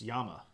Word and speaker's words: llama: is in fact pronounced Yama yeah because two L's makes a y sound um and that's what